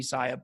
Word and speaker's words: Sia: All right, so today we're going to be talking about Siacoin. Some people pronounce it Siacoin. I pronounce it Siacoin. I think it's supposed to be Sia.